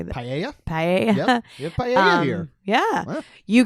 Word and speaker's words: paella: Paella.